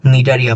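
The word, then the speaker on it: Cnidaria: এরপরে আমাদের আলোচনার বিষয় হচ্ছে দ্বিতীয় পর্বটি অর্থাৎ নিডারিয়া পর্ব। বানানটা খেয়াল করেছো এখানে একটা সি আছে।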